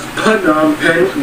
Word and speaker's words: Phnom Penh: That's right, people, it's pronounced Phnom Penh, not Phnom or Phnom Penh.